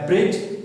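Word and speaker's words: bridge: और जो तीसरा हमारा वर्ड है ब्रिज, यहाँ पर d साइलेंट है और जो g है ये साउंड प्रोड्यूस कर रहा है j साउंड.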